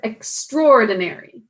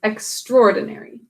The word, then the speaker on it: extraordinary: We can also pronounce this word extraordinary, making this silent. Extraordinary.